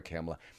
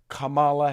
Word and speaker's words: Kamala: camela Harris I'm sorry I keep calling her camela I want to properly pronounce her name Camala Harris so let me I